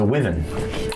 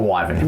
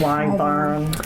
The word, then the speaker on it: wyvern: It is a wyven or a wyvern, whatever how you say it. Wyvern.